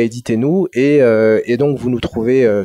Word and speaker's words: Édith & Nous: c'est très simple donc éditer nous ça s'écrit est dit comme comme le prénom est dit et nous donc que t n o s pourquoi ce nom parce